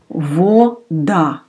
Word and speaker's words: вода: Вода. We pronounce va Да.